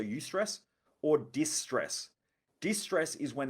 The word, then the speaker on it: eustress: types of stress there's eustress which is spelled e u and then the word stress so you stress or distress distress is